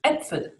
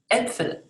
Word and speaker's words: Äpfel: But if you want to talk about the apples, plural, you add the umlaut and it sounds like Äpfel. Apfel, Äpfel.